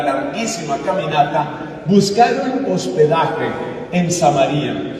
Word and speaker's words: Samaria: Las regiones son Galilea en el puro norte, Samaria en la mitad, otros pronuncian Samaria y Judea en el sur.